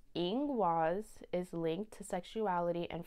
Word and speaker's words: Ingwaz: Okay, this is pronounced Ingwaz.